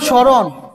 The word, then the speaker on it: স্মরণ: শব্দের আদ্য ব্যঞ্জনে 3 নাম্বার, শব্দের শুরুতে, সহজভাবে আমি বলছি, শব্দের শুরুতে ম, ম ফলা, ম ফলা, শব্দের শুরুতে ম ফলা থাকলে কি হয়? ময়ের উচ্চারণ হয় না। শব্দের শুরুতে ম ফলা থাকলে ময়ের উচ্চারণ হয় না, উচ্চারণ হয় না।